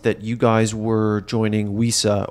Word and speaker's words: WESA: you guys were joining Weesa or as I'm told wesa pronounce it nowadays I always said we said overnight it seemed like